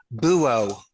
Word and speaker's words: buo: Buo.